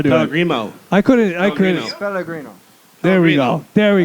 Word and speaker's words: Pellegrino: Pellegrino. No. Yeah. Good. Picaro, can you please pronounce this? Valiant effort. That was in Italian? We'll have Picaro do it. Pellegrino. I couldn't. Pellegrino.